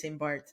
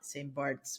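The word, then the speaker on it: St. Barths: So the name of the island is St. Bart. It is not St. Bart's with an S at the end.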